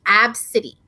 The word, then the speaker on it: Abcde: name her five-year-old daughter whose name is AB City AB city yeah um pronounced or that's how you pronounce it it's spelled ABCDE get the [ __